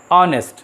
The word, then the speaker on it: honest: उसी तरह से ऑनेस्ट, HONEST, हमने उच्चारण किया हिंदी में तो पहला अक्षर अ आता है हिंदी में उच्चारण करने पर, इंग्लिश में वॉवेल साउंड आता है, इसलिए इसके पहले एन का प्रयोग करेंगे।